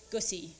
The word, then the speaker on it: Gusi: At Morgan's wedding, the celebrant asked Mum for her name so that he could introduce her, and, deadpan, she replied, Gusi, it rhymes with pussy, before striding on stage.